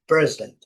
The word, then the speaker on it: president: Primeira sílaba é forte. President. President. Eh, eh, a separação aqui, a letra I, bem curtinho, tá? Às vezes ela nem é perceptível, como também o o president present, né?